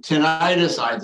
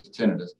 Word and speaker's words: tinnitus: The most common cause of tinnitus and the preferred pronunciation, tinnitus is fine, but the preferred is tinnitus.